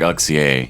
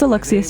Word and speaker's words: Alexius: It's actually going to be like Alexia, isn't it? No, it's Alexius. You said it right.